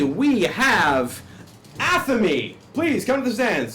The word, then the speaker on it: Athamé: when when you have second the spelling in aamy a t h m e with Theos or